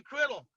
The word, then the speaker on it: Criddle: Criddle.